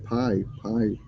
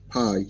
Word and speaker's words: Pai: PIA, pie. Just put. It's near Chiang Mai. P-A-I, pie, P-A-I, pie. I know that it's not chicken pie.